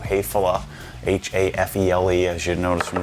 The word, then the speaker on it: Häfele: stuff is already built already exists it's called heyphala h-a-f-e-l-e as you notice from the title it's pronounced hatefula it's a German manufacturer of all kinds of